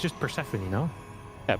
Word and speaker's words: Persephone: How do you pronounce it? It's just Persephone, no? Yeah, Persephone.